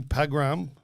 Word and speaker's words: Pagram: We're going to get Ruby Pagram. How do you spell it, Christopher? P-A-G-R-A-M. You say it Pagram.